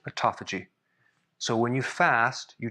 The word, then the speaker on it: autophagy: you heard him talk about this autophagy that autophagy that's how you pronounce it um several times and we're going